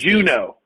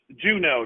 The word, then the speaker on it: Junod: What lineage is Juno. this? Juno. It's French. Juno, just like Alaska. So it is French. Yeah. Okay, that's different. Juno. So the D is silent.